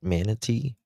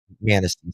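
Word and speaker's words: Manistee: uh, wooded areas, and, uh, how do you pronounce this? Uh, is it Manatee? Manasty, sorry.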